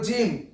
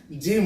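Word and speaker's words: gym: ওয়াই যদি থাকে তাহলে তোমরা কখনো জি এর উচ্চারণ গ পড়বে না কি করবে কুরকির জ কর পড়বে ওকে তারপরে জিম জি দেখো জি এর পরে কি আছে ওয়াই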